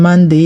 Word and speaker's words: Monday: Monday, you already know the O in Monday is pronounced the O in money, the O in honey.